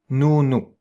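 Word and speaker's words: nous: It's you just spell it. N O U. N O U. Noo.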